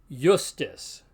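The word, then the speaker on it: iustus: In any case, the consonantal I is pronounced like our consonant Y. So the Latin word for just, then, is pronounced justus.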